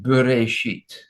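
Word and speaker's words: בְּרֵאשִׁית: Sometimes the aleph is not to be pronounced, and that is sometimes there is no vowel, as in the word as I show you here, bereshit.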